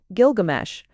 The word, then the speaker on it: Gilgamesh: it with guilsh pinches's discovery pointed conclusively to the popular pronunciation of the hero's name as Gilgamesh and since a lean